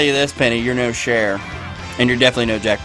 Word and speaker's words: Cher: You're no Cher, and you're definitely no Jack Black. So yeah, Cher- you're better oh. than that. yeah, Like Cher the singer, Cher. Yeah. Oh, I thought you were. No, a chair.